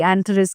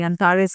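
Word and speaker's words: Antares: Well pronunciation सबकी अलग अलग होती है, कोई एंथरिस कहता है, कोई अंतारस कहता है।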